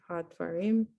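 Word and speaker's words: הַדְּבָרִים: Hadwarom, Almost. Hadwarom. Reem at the end. Okay. Had, Had reem. So this silent schwa after D, Hadvarim.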